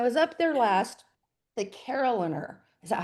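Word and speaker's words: carillonneur: And I was so lucky when I was up there last, the Caroliner, is that how you say it?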